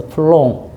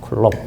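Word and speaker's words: Coulomb: 쓴 거예요 알겠죠 그래서 쿨롱 쿨롱이라고 하시면 됩니다 쿨롱 사람 이름 쿨이고 어 이름은 쿨롬 이런 식으로 어 읽습니다 사람 이름은 그 그나라 말로 그대로 합니다 그래서 쿨롱이고 알겠죠 어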